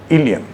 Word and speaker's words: ileum: इन दोनों में डिफरेंस है, प्रोनाउंसिएशन दोनों का सेम है, दोनों को हम इलियम ही कहते हैं, लेकिन ये जब ILIUM